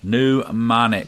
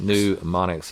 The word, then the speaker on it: mnemonics: Mnemonics. Mnemonics. It starts with an M. It rhymes with bubonics. Yeah, the M is silent, kind of like in pneumonia.